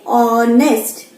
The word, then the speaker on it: honest: But when we say honest, here it is giving us the sound of a vowel. Here H is silent and we are getting the sound of O.